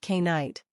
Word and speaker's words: knight: For example, the word night comes from Old English, where it was originally pronounced K-night.